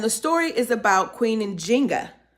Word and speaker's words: Njinga: Now, some of us might be thrown off because we usually pronounce her name, given as the way the Portuguese have spelled and pronounced her name, as Nzinga. So we would know her as Queen Nzingha.